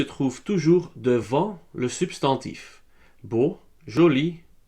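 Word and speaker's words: beaux: Beau, nouveau et jumeau reçoivent tous un X qu'on ne prononce pas. Alors ça devient beau, nouveau et jumeau, tous avec un X.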